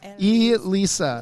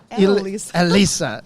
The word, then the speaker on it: Elisa: who you are Elisa Lisa no you're saying it wrong Elisa like so are you